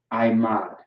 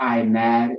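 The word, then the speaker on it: עמוד: I mod. It's not I mad, it's I mod. Okay? You have the I, the ma, and the duh.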